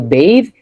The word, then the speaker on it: bathe: Or say for example, bathe, because of the silent E, it changes the A. If you see B A T H, that's what? a shower Yeah, B A T H that's bath. But when you make it E A, so then it makes it a long vowel, so then it is bathe Yeah, bathe.